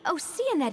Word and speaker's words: Oceanid: It's pronounced Oceanid? No way. It says ocean. It'll always be ocean to me.